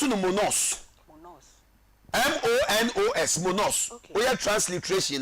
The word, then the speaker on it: monos: In fact Hebrew kasa alone no ye pronounce no monos.